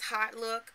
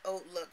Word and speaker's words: HauteLook: I call it Oat Look because I know in French, H-A-U-T-E is pronounced oat, like oak tree, but with the T at the end instead of K.